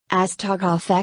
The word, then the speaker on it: Astagraf: have any questions about us to graph Excel pronunciation as tarkoff XL generic tacrolimus availability extended-release capsules what is